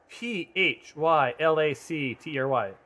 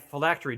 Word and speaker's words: phylactery: this dyslexic i never can pronounce this right p h y l a c t or y phylactory yep that's it okay i guess i